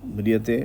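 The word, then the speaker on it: म्रियते: आप ध्यान दीजिए न जायते मयते तो मयते में क्या होगा आधा म और पूरा र है ना न जायते मयते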